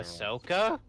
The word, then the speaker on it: Ahsoka: Ahsoka? Yeah, long O.